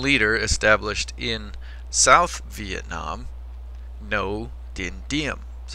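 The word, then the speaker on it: Ngô Đình Diệm: No dendium. That's how you pronounce his name. Like no, forget the G. It's a silent G.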